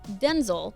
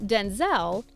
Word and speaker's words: Denzel: But Denzel, not Denzel, let us in on how his name is supposed to be pronounced.